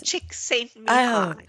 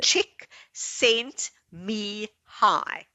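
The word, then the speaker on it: Csikszentmihalyi: Like do you want the cheat? The cheat way is chick sent me high. That's the only way I remember.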